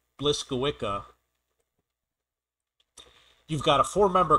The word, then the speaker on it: Błyskawica: is the nc7 uh I happen to know for a fact that this is pronounced blissa you've got a four